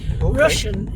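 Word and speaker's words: Rushen: Russian is spelled R U S H E N.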